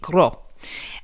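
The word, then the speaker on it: Grød: Glo G ro D they don't pronounce the D crow and it's a restaurant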